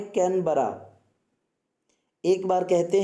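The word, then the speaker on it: Canberra: ही बोल दिया कि कोनीबेरा। उन्होंने कहा very good but pronunciation is wrong, that is कैनबरा।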